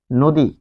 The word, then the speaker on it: নদী: স্বরে অ হবে ও এর মত উচ্চারণ। তাহলে আমরা এখন দেখব উদাহরণ উদাহরণ দেখব। যেমন নদী নদী নদী শব্দটির বিশ্লেষণ যদি লিখি আমরা দন্তন হসন্ত যোগ স্বরে অ।